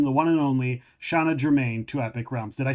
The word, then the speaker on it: Germain: Please welcome the one and only Shanna Germain to Epic Realms.